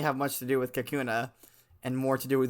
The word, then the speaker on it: Kakuna: God good luck if the coun of the kauna first of all I mean it's spelled k a k n a ah uh excuse me Kakuna um okay I'm just gonna say if the